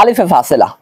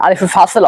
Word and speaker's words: আলিফে ফাসেল: আমরা বলেছিলাম যে নুনে জমা এবং নুনে তাকিদের মাঝখানে একটা আলিফে ফাসেলা, অর্থাৎ এখানে একটা বিষয় খেয়াল রাখবেন, আলিফে ফাসেলা হবে না, বরং উচ্চারণ হবে আলিফে ফাসেল, যেটা আমি একটু আগে ভুল করে বলে ফেলেছি।